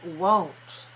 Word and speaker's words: won't: as a contraction is won't let me hear you say the sound oh oh oh won't won't will your niece